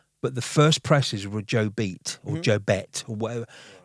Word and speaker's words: Jobete: to Dominion after, but the first presses were Joe Beat or Joe Bet or whatever. I'm sure you're going to say that I've pronounced it wrong, but it's Jobete.